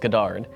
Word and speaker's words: Godard: then all the videos i started to watch everybody it's pronounced goddard okay and yeah that